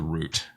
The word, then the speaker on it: route: would need to know the route or route depending on your chosen pronunciation well we got this